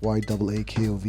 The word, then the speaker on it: Yaakov: No, they mispronounce Yaakov. They say Yaakov, which I don't like at all. But I do like Yaakov. Maybe in some other country. No, it's spelled that way. It's Y-A-A-K-O-V. It sounds like Yaakov. Yeah, it's like Yaakov.